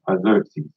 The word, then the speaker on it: Xerxes: That's how it's pronounced. Xerxes.